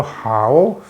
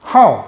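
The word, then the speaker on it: 好: 여기 호는 우리 발음으로는 구별이 안 갑니다만은 중국 발음으로 하오, 삼성으로 읽을 때는 형용사, 뭐 좋은 이런 뜻이죠. 그런데 동사로서 좋아하다 할 때는 사성 하오 이렇게 읽어요.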